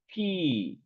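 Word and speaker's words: phi: M6 berarti kalau pos simbolnya ini V Ini bacanya V Ini dibaca Pi p h i nah pi pi dari Berapa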